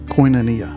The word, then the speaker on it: koinonia: There's a word in the Greek language pronounced koinonia.